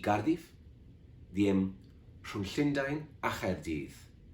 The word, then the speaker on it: Chaerdydd: I per dir, per exemple, entre Londres i Cardiff, diem rhwng Llundain a Chaerdydd, amb CH, que es pronuncia com la J en castellà.